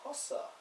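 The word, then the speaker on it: Hossa: Kanan hos on the right wing uh is pronounced mean HOSA yeah I don't really care Don Cherry and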